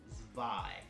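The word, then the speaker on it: Zwei: if it came out this is Panzer Dragoon spy or number two if you want to call it that but it's pronounced spy now this game is not as good as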